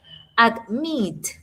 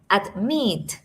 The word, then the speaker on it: admit: Admit. Admitted. Admit. Meet es la sílaba que tiene el mayor stress, la mayor fuerza.